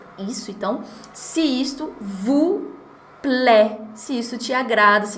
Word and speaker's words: plaît: Vocês conhecem essa palavra aí, plaît? Talvez com outro sonzinho, outra pronúncia, que é mais fechadinha, tá mais pra plaît.